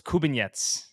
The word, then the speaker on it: Kubinets: I've been told it's Kubinets. Kubinets. Yeah.